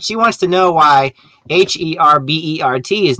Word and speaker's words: Herbert: wants to know why h-e-r-b-e-r-t is not pronounced a bear well there's actually two names very close together if you have two r's it's herbert but if you take